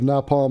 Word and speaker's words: napalm: I love the smell of napalm in the morning. Napalm. Not nap. Nap? Oh, she saw the P.